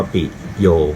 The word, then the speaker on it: ปิโย: จะ มี จุด เป็น บล็อก ปิโย อ่าน ว่า ปิด โยม นะ ครับ เหรียญ นี้